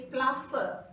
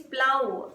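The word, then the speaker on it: plough: Many people says pluff, P-L-O-U-G-H. You should not say pluff, it is plow, plowing. The sound should be like plow.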